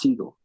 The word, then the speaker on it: Seagal: He's No, like, I think it's pronounced Seagull. Seagull.